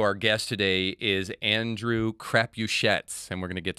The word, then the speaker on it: Crapuchettes: Because I was going to give you like this French pronunciation, Crapuchet, Right, or something like that. Yeah. But Crapuchettes.